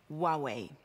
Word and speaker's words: Huawei: what we have in store and remember it's pronounced Huawei ANCA dot teach you how do you how